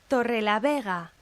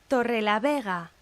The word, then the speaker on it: Torrelavega: Torrelavega, Torrelavega.